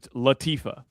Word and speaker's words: Latifah: It's Adam Levine, Queen Latifah. You don't know how to say JT Real Muto. You don't know how to say the Queen's name. It's Latifah.